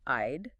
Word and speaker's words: I'd: It's the I sound, immediately followed by a soft D sound. I'd.